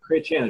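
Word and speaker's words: Chrétien: Chretien, Jean Chretien.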